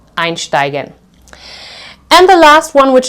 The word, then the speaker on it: einsteigen: have several syllables, so einsteigen, this would be the second syllable. In this case, we also pronounce this as st. Einsteigen, which means to board or to enter, to hop on, okay?